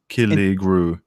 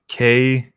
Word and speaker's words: Killigrew: Just Killy Grew. And It's can kind you spell that for people so they can find it? that's KILLIGREW.